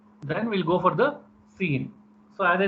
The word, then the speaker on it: cin: Then we'll go for the cin. So as I said, so console input. Previously it is console output. It is console input, as it is pronounced as cin.